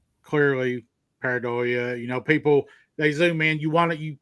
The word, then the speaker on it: Pareidolia: And well, and it's also, and I hate to say that word because I say paradiola. Did I say it right? Oh yeah, I get that. Pareidolia. Pareidolia.